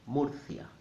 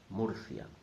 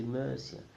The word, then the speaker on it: Murcia: when you see a the letter U in Spanish normally will sound like a double o mafia mafia so only two possible